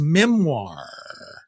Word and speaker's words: memoir: He's releasing his memoir. Memoir. That word is not pronounced the way it's spelled. By memoir. I think it's French, whatever.